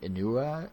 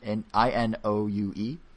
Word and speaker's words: Inoue: Inoue. Inoue. Angel. Japanese. Inoue. That sounds right. Inoue. Well, that's the spelling. Inoue. Osamu Inoue. Okay. Pronounce it like you would in Spanish.